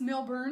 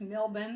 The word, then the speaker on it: Melbourne: So I went to to Melbourne and it's not pronounced Milbour. It's Melbourne the way they say it.